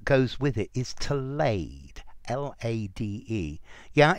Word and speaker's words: lade: This is an adjective, and the verb that goes with it is to lade, L-A-D-E. Yeah, it sounds like lay, laid, laid, but it's spelt differently.